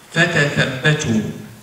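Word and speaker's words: فتثبتوا: It is written the same way. But it is just a matter of the dots. That the pronunciation will be different. And both recitations are accepted.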